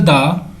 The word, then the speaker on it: the: If article द is used for a consonant sound देन pronunciation will be द बॉय।